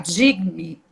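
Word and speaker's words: Jigme: Digme. Esse G é meio mudo, né?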